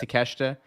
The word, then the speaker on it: Takeshita: They say Takeshita, right? I'm pretty sure he says Takeshita, Yeah. Okay. but it looks like Takeshita, but Yeah.